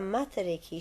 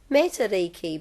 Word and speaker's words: Matariki: that people realise that the pronunciation of matariki is matariki, not matariki.